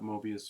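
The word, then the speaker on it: Moebius: you just look up Mobius you'll get like but it's spelled funny it's like m o e b i u s yeah yeah um but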